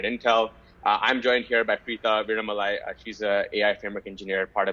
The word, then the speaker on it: Preetha Veeramalai: Yeah, you did pronounce the name right. Almost. It's Preeta Viramalai, joining from India.